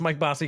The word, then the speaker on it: Mike Bossy: I assume I am, but it's the Mike Bossy effect, Okay. right? Well, you So, you pronounced Mike Bossy correctly, yes.